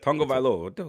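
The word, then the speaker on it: Tagovailoa: Tonga Vailoa? Is that what it is? Tonga Vailoa. Yep. Tonga Vailoa.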